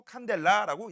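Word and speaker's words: candela: CD라고 쓰고 칸델라라고 읽어요.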